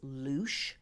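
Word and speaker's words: Luis: tree alphabet it is known by the Kelts as Louch but it's spelled Lu i s this is also I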